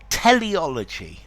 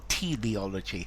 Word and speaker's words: teleology: hi there students teleology or teleology I've seen I've heard both pronunciations use teleology teleology okay